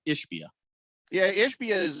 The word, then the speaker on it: Ishbia: Is it Ishbia or Ishbia? Ishbia.